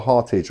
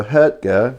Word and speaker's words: Hartge: When I bought it, and I thought, right, I need to do some research on what Hartge is.